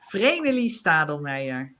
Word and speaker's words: Vreneli Stadelmaier: Yeah, then I say it in the Dutch way, and the Dutch way is Vreneli Stadelmaier.